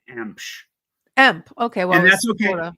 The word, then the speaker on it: Emch: My last name is pronounced Emch. Okay. Well, and that's okay. EMC. It's pronounced Emch. So if there was if it was spelled EMPCH, that's how you pronounce it.